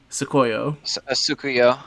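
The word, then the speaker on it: Tsukuyo: Sukuyo, right? That is how you pronounce her name correctly. Sukuyo.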